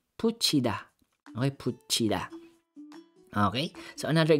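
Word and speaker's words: 붙이다: Put plus ida. Okay, so sa first syllable natin, pag bigkasin mo yan, solo lang siya, put lang yan. Put. Put. Letter T. Okay? Pero pag dagdagan mo siya ng vowel na E, magiging puchi. Puchida.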